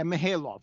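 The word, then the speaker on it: Mihailoff: played by R.A uh me Hale off I think you say his name yes um so yeah mahalov yes that I can't well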